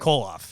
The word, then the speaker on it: Kollauf: Lauren, pronounce her last name. Kollauf.